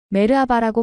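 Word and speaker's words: Merhaba: 이건 안녕하세요라는 뜻이에요. 메르아바라고 발음해요. 메르 아바 김태현이 따라서 말하는데 발음이 정말 서툴렀어요. 하지만 아이씨는 정말 열심히 교정해 주고 있었습니다. 좀 더 부드럽게 말해 보세요. 메르바 이렇게요?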